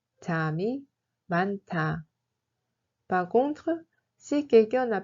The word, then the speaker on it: 잠이 많다: 잠이 많다 se prononce comme 잠이 많다. 잠이 많다.